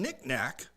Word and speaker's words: knick-knack: And he said, well, the K is silent in night, and in the term knick-knack, both of the K's are silent.